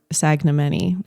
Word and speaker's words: Sagnimeni: my last name and at the time he pronounced it sagn sagam manyi cuz there's that silent in there um and